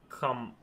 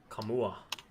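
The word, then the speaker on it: Nkamhoua: N K A M H O U A I assume the N is silent. So Kamua Camua I'm going say camua Padulla.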